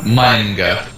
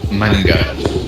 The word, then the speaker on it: manga: Apparently, it's like manga, because it's like you say like M-A or something like that, and then you say the N really fast and then go. So it's like manga, just like that.